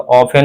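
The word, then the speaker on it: often: टी इसका क्या हो जाएगा? साइलेंट हो जाएगा। तो ऑफेन होगा।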